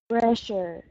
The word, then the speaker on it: pressure: say um is pressure pressure yeah very good the first time you said it um it's that SS sound they can be uh it could be tricky because it does sound like an sh uh very good um